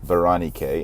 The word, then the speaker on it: Berenike: But in Greek, it's pronounced Berenike.